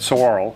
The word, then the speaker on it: saguaro: The spelling alone is weird, you know, saguaro, or, you know, we had a hard time figuring out how to say it. But saguaro, when you grab one